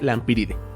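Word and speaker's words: Lampyridae: de la familia lampiride que se escribe lampidae con una y después de la p y con terminación ae pero que se lee la ampíride Y es de conocimiento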